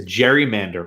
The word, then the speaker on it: gerrymander: So it's hard to to use the phrase to gerrymander or gerrymander, if you will. It's actually it's with a G, hard G. It's like GIF, whatever, right?